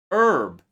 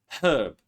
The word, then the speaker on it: herb: Air. herb American English, but in British English they say herb, honest, hour, rhyme, white, wine, whistle.